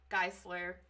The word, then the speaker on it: Geistler: Well, it actually was Geistler and it's pronounced with a hard German uh KG combination sound.